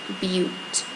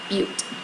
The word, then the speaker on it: butte: That's a butte. That's how you say it, butte.